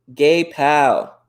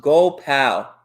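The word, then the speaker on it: Gopal: right there so close gay pal oh it's pronounced go pal got you go pal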